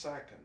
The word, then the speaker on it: Sackin: it at the front your last name is pronounced second they haven't got a